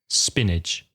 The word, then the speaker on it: spinach: In English, spinach Again, the pronunciation not reflecting the spelling. Spinach. Pronunciation, spinach.